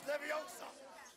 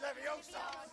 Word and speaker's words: Leviosa: You're saying it wrong. It's Leviosa. Not Leviosa.